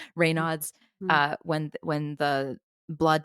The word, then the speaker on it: Raynaud's: Like, some people who get Raynaud's syndrome, I think that I'm pronouncing that right. Raynaud's.